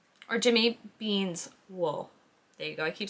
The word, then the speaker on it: Jimmy Beans Wool: But yeah, so that was Jimmy Bean Wools, or Jimmy Bean's wool.